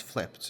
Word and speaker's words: flipped: the other one is flipped uh flipped So based on and flipped in both of these words um there is Ed which is not pronounced like a normal Ed but rather a t sound I do not say